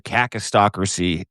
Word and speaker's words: kakistocracy: But you got to start doing it because the kakistocracy of the United States of America is in full force. You use it anytime, baby. I'm scared to mispronounce it. Just go hard on the A.